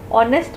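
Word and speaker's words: honest: एच is silent, H silent है ना, ऑनेस्ट बोलते हैं हम।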